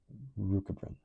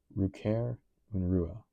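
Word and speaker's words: Rückkehrunruhe: German, Rukabren, or Rukahern. Coming back plus Unruhe. Restlessness. Compare Zugunruhe. Migration restlessness. The fidgety behavior observed in birds approaching migration. Pronounced Ruker Unrua. Ruker Unrua. So I was nowhere close.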